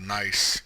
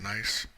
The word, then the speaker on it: gneiss: Still the gneiss. I believe that's how you pronounce it, gneiss.